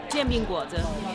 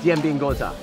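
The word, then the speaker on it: 煎饼果子: Jian bing guo zi. Jian bing guo zi. Jian bing guo zi. Yeah, guo zi. Jian bing guo zi.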